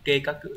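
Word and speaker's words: 計画: Chúng ta có từ kê các cự là kế hoạch thì mình sẽ phải đọc là các cự chứ không phải là ga này đúng không nhở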